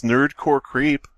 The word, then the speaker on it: NerdXCoreX Creep: When you're reading Leet usernames, the X is silent. It's Nerdcore Creep.